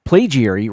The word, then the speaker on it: plagiary: The reason it's useful to know that, the reason it's useful to know is that plagiary rhymes with aviary, making the spelling of that second syllable make a bit more sense.